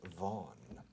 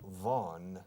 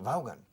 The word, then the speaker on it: Vaughan: Se pronuncia en inglés Vaughan, ¿eh? Pero aquí, en España, si digo Vaughan, nobody understands me. So I changed my name to Vaughan.